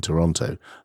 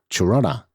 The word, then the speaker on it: Toronto: from far away because you pronounce the last T in Toronto locals pronounce it slightly differently Tirana is probably the closest phonetic approximation I like how you